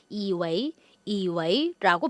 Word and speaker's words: 以为: 발음도 유의해 주셔야 되겠어요. 자, 이웨이에서 이 웨이는요, 물론 为什么 인웨이 할 때 웨이 사성으로 읽죠. 하지만 뭐뭐라고 여기다 생각하다 동사할 때 웨이 이성해 줍니다. 그래서 발음이 반삼성 이성 돼서 이웨이라고 발음이 되겠죠.